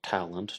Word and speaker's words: Talon: It's called Ready to Hang, 7 Famous New Orleans Murders by Robert Talon, maybe pronounced Robert Talent, depending on your English pronunciation and your French pronunciation, English and Cajun French from Louisiana.